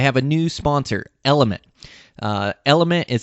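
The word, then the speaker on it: LMNT: Element is spelled L-M-N-T.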